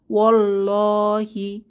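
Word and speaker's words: والله: তো মাঝে যে আলিফ লাম, এটা নো সাইন নো সাউন্ড, আমরা উচ্চারণ করব না। ওয়াও ফাতহা সরাসরি তাসদিদওয়ালা লামকে ধরছে, তাহলে এখানে ওয়াল্লাহি না পড়ে আমরা পড়ব ওয়াল্লাহি।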